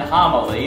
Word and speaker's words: homily: grits no no no you're thinking homon grits not homy and grits they're two totally different things well it is when you say it like that I mean no Hony is corn and homy is a sermon oh what did I